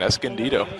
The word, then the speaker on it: Escondido: though for Quyen Singh good job on that pronunciation Escondido you got that one really good was the